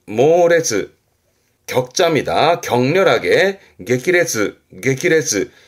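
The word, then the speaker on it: 激烈: 강렬한 발음은 쿄레츠, 쿄레츠. 그리고 앞에 글자가 맹자입니다. 아주 맹렬하게 말이죠. 모레츠, 모레츠. 격자입니다. 격렬하게 게키레츠, 게키레츠.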